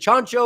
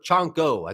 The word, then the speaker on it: Chanko: Yeah, I would find it hard to believe that Chancho or is it Chancho or Chanko? It's Chanko. I think I said it wrong the first time.